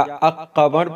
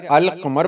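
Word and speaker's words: القمر: लगाएं तो क्या पढ़ेंगे, अल कमर या अक़मर पढ़ेंगे। तो जाहिर है अल कमर पढ़ेंगे, यानी इसके पहले अलिफ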